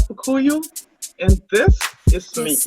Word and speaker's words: Kpukuyou: The K is silent, so it's Kpukuyou.